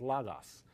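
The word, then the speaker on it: λόγος: You'd say logo in English, Okay. but in Greek it's logos, and it means the word.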